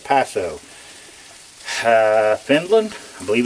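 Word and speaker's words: Paaso: This is a it's pronounced P-A-A-S-O, Paso.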